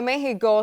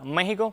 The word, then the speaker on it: México: México puede ser con X o con J. Sin embargo, lo recomendado por las academias de la lengua española es que se mantenga la X, cuya pronunciación sería como J.